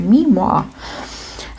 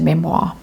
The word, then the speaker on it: memoir: The High Priestess knows all, sees all, has all written in her diary, ready to publish in her memoir. And yes, I know it's pronounced memoir if you're writing in the comments.